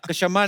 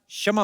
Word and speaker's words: क्षमा: कशमा नहीं क्षमा होता है।